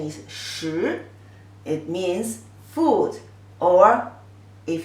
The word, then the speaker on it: 食: So this character together, pronunciation is 食.